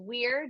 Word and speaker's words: Were: but plug them again yes so my name is spelled last name is Weir w-e-r-e you can find my performance Instagram underscore Weir and for makeup Artistry everywhere I am at